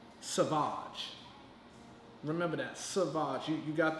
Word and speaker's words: Saváge: don't be P Red Rock her name is pronounced Savage remember that Sabah's you got the excited to